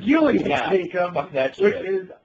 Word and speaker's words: Gillian Jacobs: Julia Jacobs, but apparently her name is pronounced Gillian. Gillian Jacobs.